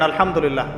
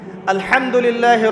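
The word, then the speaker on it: الحمد لله: আলহামদুলিল্লাহি রাব্বিল আলামিন। এইতো আপনি পড়ছেন আলহামদুলিল্লাহ। শব্দটা কি? আলহামদুলিল্লাহ। এই হা এর মাখরাজ কোথায়? হা এর মাখরাজ কোথায়? বলেন একজন কন্ঠনালীর মাঝখান থেকে এখান থেকে আপনি উচ্চারণ করছেন আলহামদুলিল্লাহি রাব্বিল আলামিন অর্থ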